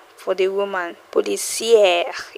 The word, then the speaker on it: policière: Policière is how you pronounce it. Policière, policière.